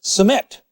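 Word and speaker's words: سماق: Sumac in Lebanese is pronounced samet.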